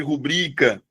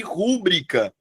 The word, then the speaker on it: rubrica: A sílaba tônica de rubrica é o Bri. Aí o que que as pessoas fazem? Elas colocam recorde e rúbrica. E aí isso é um erro.